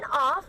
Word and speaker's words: of: So whenever you are going to see of in a sentence, please make sure that you pronounce it with a V sound in the end.